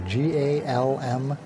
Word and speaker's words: Galmore: His name is Galmore. G-A-L-M-O-R-E. Galmore.